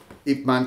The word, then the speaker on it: Ip Man: After Bruce Lee came to the United States, Ip Man continued to teach in Hong Kong, and his last student was my grandmaster.